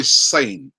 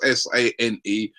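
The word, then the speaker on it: Sané: cupboards for my pronunciation I said Leroy sane right it's pronounced SAE I said Leroy sane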